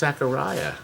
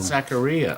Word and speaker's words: Zaccaria: That's what I I pronounced thought it was Zaccaria. You thought wrong. Zaccaria.